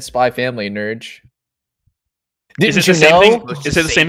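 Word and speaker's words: Spy × Family: my chest telling me you don't say the x in the middle i knew that but it's like stupid it's actually supposed to be said spy family nurge this is the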